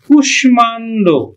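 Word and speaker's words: কুষ্মাণ্ড: কিন্তু এটা কৃতরহীন শব্দ এই শব্দগুলো মফলার যে নিয়ম সেই নিয়মটা মানে না আমরা এটা উচ্চারণ করি কিন্তু কুশ মান আমরা উচ্চারণ করি কিন্তু কুশমান্ড তুষমান্ড শিক্ষার্থী বন্ধু আজকে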